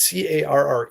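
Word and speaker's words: Carré: It's C A R R E. Like if he was French, I'd say different, but I'm gonna say Reese Carr.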